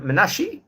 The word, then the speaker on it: Menashi: And when he had his son Menashi, pronounced with an ultimate I, according to the Iraqi dialect of Judeo-Arabic.